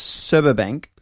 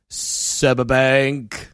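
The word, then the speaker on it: Sberbank: the CEO of uh serba Bank serba bank yeah pronounced subber Bank sub Bank like sub Bank sub Bank I like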